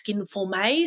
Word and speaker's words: Skinformé: Has an accent over the E because I'm European trained, so it's a little nod to Paris there and pronounce Skinformé. So the last word is May, M-A-Y.